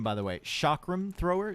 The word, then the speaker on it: chakram: Chakram thrower? Chakram.